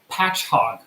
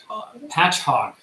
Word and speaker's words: Patchogue: State New York and it is pronounced patch hog patch hog here's the parentheses Hedgehog